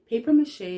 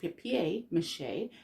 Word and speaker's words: papier-mâché: papier-mâché without understanding where the word deres from paper mâché is actually pronounced pep mâché and it is a French word literally meaning